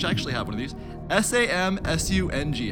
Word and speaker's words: Samsung: a brand which actually have one of these s am su ng how do you say it some soon hey